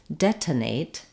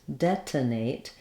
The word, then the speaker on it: detonate: for this word and it's a good example of the strange things that we do with the T sound in the middle and the ends of words so first let's look